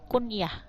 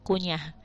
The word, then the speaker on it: kuniyah: nama yang jatuh setelah kuniyah ini bedanya kuniah ya bukan kunyah lalu kunyah makan ini bacanya kuniyah atau gelar contohnya hpnda